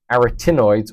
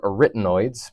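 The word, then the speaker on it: arytenoids: That's a nice way to fit fit in the pneummonic here to the soft pallet, tongue, epiglotus, your aritinoids or aritenoids. Some people pronounce them differently.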